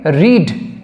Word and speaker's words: read: এখানে আমরা পড়া সেন্সে রিড সেই রিডের থার্ড ফর্ম লিখবো রিড এর থার্ড ফর্ম যেটা সেটাও একই স্পেলিং হয় কিন্তু উচ্চারণ আলাদা হয় রেড উচ্চারণ করতে হয় রিড উচ্চারণ হবে রেড তো সেটার স্পেলিংটা এরকম